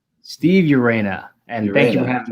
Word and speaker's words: Urena: how do you say your last name steve urena and thank you for having me on but